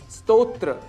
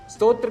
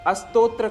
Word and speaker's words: स्तोत्र: स्तोत्र। स्तोत्र के स्थान पर अस्तोत्र का हम उच्चारण कर जाते हैं, जो कि दोष माना गया है।